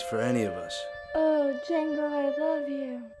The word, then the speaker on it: Django: The name's Django. The D is silent.